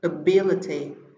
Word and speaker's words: ability: Vậy chúng ta sẽ có phương án A trọng âm rơi vào tiết thứ hai: ability.